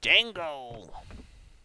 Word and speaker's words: Django: Django! The D is silent. I haven't actually seen Django, so...